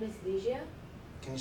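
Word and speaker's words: Ligia: you sure hi hey uh my name is liia can you say that again liia liia can you spell it for me l i g i a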